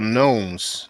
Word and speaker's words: nome: But you know, in Egypt there were gnomes. Now we call them gnomes. Well, it's spelled Nomes.